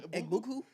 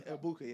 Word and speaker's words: Egbuka: Egbuku? Yeah. Egbuka, yeah.